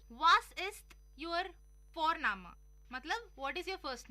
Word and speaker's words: Vorname: और जर्मन में हम जिस तरह से लिखते हैं, लिखना और प्रोनाउंसिएशन अलग होता है, तो इसलिए तुम सी साई में कंफ्यूज हो जाते हो। और हम यहाँ पे फोरनामा प्रोनाउंस करते हैं बट लिखते हैं उसको VORNAME। ओके, तो वो हम इंग्लिश के अनुसार प्रोनाउंस करेंगे तो बनेगा वॉरनेम, बट नो, इट्स फोरनामा।